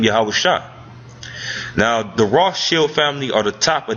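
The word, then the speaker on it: Rothschild: the term rth Shield the word rth Shield is how you actually uh uh say in the correct pronunciation he basically made that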